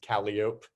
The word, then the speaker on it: Calliope: Like Calliope is pronounced Calliope.